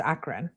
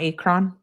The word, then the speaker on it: Akron: Oh, it Akron is pronounced Akron. Oh, not Akron.